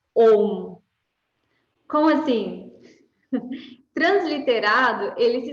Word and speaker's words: Om: Este símbolo, ele é o som OU com a nasalização. Então, se pronuncia OU, certo?